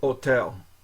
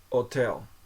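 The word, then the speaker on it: hôtel: p p Okay so H is not pronounced so it's like it's like Spanish that way like orata or like ombre okay the the H at the beginning isn't isn't pronounced um so otel otel so the O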